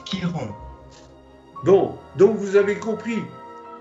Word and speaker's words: Chiron: Alors, ça s'écrit Chiron, mais ça se prononce Chiron.